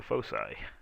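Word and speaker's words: foci: to get the folai or the fosi heard to pronounce both ways but anyway fosi the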